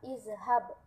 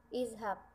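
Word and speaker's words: اذهب: Selanjutnya kita tambahkan huruf alif berbaris kasroh di depan huruf za, jadinya i. Terus huruf za-nya kita ubah jadi berbaris sukun, tidak berbaris fathah lagi. Jadi nanti dibacanya iz. Nah, maka jadilah fi'il amr izhab. Nah, jawaban yang tepat nomor 2 adalah A, izhab.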